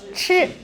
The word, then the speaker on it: 吃: So this pronunciation is 吃。你要吃什么？我要吃披萨。So the pronunciation not 吃 not no E. So 吃 yeah 吃 yes 吃 other good yes okay next yes 你好，老公，你要吃什么？